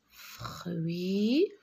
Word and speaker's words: fruits: Regardez, UI, R, fruits. S, je ne le prononce pas.